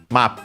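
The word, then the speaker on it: マップ: have seen before, Map of course map from English should be accented also as such. Uh it is on the ma on the first syllable. Uh notice the double the doubling of the consonant in Japanese ni in this case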